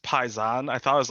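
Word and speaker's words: Paysan: is the best of the best it's it's pronounced paisan i thought it was like payson yeah you know you talk to everybody else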